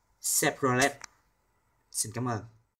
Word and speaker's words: Chevrolet: Và đây là một hãng chúng ta thường hay đọc sai. Chúng ta nên đọc là Chevrolet, Chevrolet.